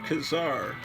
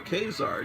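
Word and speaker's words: Ka-Zar: when you're old okay kazaar or kzar depending on who you are and how you want to pronounce it it's uh kzar number three kazaar i've always called it kazaar why am i doing why am i bending to the casar people you are doomed neither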